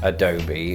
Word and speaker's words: adobe: A PDF software or a bit Adobe Premiere Pro.